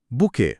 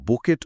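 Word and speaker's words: bouquet: দেখলে তো মনে হয় বুকেট উচ্চারণ হবে শেষের টি আছে কিন্তু উচ্চারণ হয় বুকে সুন্দর পয়েন্ট এটা একটা ফরাসি শব্দ তাই শেষের টি অনুচ্চারিত থাকে বিয়ে বা অনুষ্ঠানে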